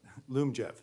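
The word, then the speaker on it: Lyumjev: that means uh I may be mispronouncing it Liam Jeff how do you pronounce that Loom Jeff Zoom jet wasn't close all right that's going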